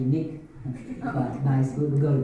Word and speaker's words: NIC: Nice. If you were pronouncing, it's actually Nick.